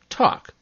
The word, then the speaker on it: talk: The same goes for talk and chalk.